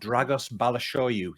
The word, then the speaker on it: Dragos Balashoyu: Difficult to pronounce his name. Can you spell it? I'm joking. I can't. No, it's B-A-L. Dragos is D-R-A-G-O-S, but I cannot spell Balashoyu. There's no H in it, but that's how you say it.